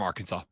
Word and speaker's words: Arkansas: declaring that the state's name should be spelled Arkansas but pronounced Arkansas so it's actually uh it is